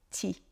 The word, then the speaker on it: petit: toute petite différence mais si vous n'entendez pas le P de petit petit devient ti som petit frère alors ça peut rendre les choses encore un petit peu plus difficiles à comprendre ce dont il faut se rappeler ici c'est que petit ça peut se prononcer petit et parfois ça se